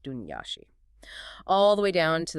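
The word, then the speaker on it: Daoine Sidhe: The Daemin is seedy, and that's pronounced Dunyashi.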